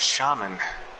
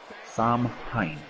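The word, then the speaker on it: Samhain: And entering the ring now is Shaman. Actually pronounced Sam Hain.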